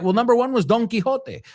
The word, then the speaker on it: Don Quixote: All right, well, number one was Don Quixote. I'll say it in the Spanish pronunciation. Americans would say donkey.